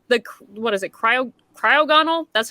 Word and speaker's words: Cryogonal: where it's like the what is it cryo cryogonal that's how you pronounce it but that was a good ticket